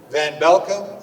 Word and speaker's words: van Belkom: And I tell people, Edo like potato, Van Belkom like you're welcome. So potato van welcome, Edo van Belkom.